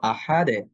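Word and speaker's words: أحد: ফলশ্রুতিতে আমরা কলকলা করব আহাদে, আহাদে। এখন আমি যদি বলি আহাদো, তাহলে কিন্তু এটা মোটা হচ্ছে এবং এটা একটা ভুল উচ্চারণ হবে, কারণ দাল হরফটা পাতলা।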